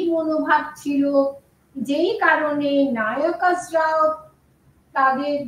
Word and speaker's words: নায়কাস: এইটি কি সত্য নাকি ফ্লাকচুয়েট করেছে কোন কোন নায়ক তারা নায়কাস এটার উচ্চারণটা হওয়া উচিত নায়কাস কোন কোন নায়কাস তারা